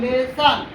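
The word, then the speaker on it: lesson: टी का साथ doctor नहीं पढ़ेंगे, ओ का प्रोनाउंसिएशन क्या हो जाएगा, आ हो जाएगा, doctor. I double L आई ओ एन, लेसन, तो ओ का क्या चिन्ह बदल गया, आ में, लेसन।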